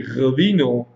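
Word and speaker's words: ღვინო: Georgian wine is Rvino. We say Rvino because old Greeks could not pronounce Rvino. They took out R and they started to say vino, in vino veritas.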